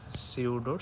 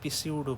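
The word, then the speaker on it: pseudo: এটা হচ্ছে সিউডোর স্পেলিং। এটা আবার আপনারা কেউ পিসিউডো করেন না ভাব নিয়ে, এটা কিন্তু আসলে উচ্চারণ সিউডো, পিটা অমিটেড থাকবে।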